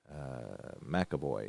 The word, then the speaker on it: McAvoy: I think that's how you pronounce that. McAvoy. McAvoy, yep. He's a 1-7. A 6. So nice job as he will knock Barkov off the puck. So McAvoy with intimidation.